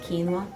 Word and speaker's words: quinoa: It's kind of spelled like quinoa, but it's pronounced quinoa.